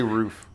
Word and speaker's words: roof: How do you say roof? Roof. Okay, so you say ooh, you don't say rough. No, I don't say rough. But there are people in Minnesota who say rough.